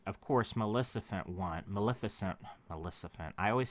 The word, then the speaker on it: Maleficent: victory party and of course Melissa fent want Maleficent Melissa Fenn I always say it wrong I